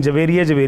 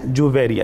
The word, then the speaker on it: جویریہ: گا کہ سیدہ جویریہ، ایک تو یہ ہمارے ناظرین کے لیے بھی ہے کہ یہ تلفظ درست کر لیں. ہمارے یہاں عموماً بچیوں کا یہ نام محبت سے رکھا جاتا ہے، لیکن جویریہ کہتے ہیں. نہیں جویریہ ہے.